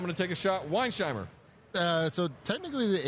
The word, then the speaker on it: Weinsheimer: to take a shot wiin shimer uh so technically the H is the S is or the H is silent for some reason so Weinheimer Weinheimer look I don't